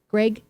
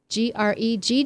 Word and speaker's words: Gregg: I'm totally just destroying Greg with two G's sounds like an a yes that's right and Greg with one g sounds how with an e sound so it's either an